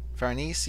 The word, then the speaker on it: Farnese: so, like, we get introduced to, is it Farnese? Farnese is how you say her name? Farnese. Farnese, yeah, so we get introduced to Farnese, who